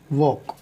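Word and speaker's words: walk: L silent होता है अगर पहले ए है उसके बाद एल, तो एल साइलेंट है। जैसे टी ए एल के, अब इसमें ए है और एल है एक साथ, है ना, तो उस कंडीशन में एल साइलेंट है, एल की आवाज़ नहीं निकलेगी।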